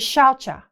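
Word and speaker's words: śauca: The first niyama is shaucha. It's spelled S-A-U-C-A, but all C's in Sanskrit are a CH sound, like chakra.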